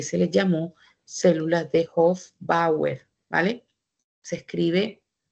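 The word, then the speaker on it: Hofbauer: También aparecen células musculares lisas y aparecen unas células muy importantes para la placenta que se les llamó células de hoer, ¿vale? Se escribe h o f b a u e r.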